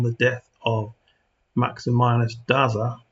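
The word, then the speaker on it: Daza: death of Maxim minus daa or is it datha in Spain that would be pronounced datha uh Constantine and linius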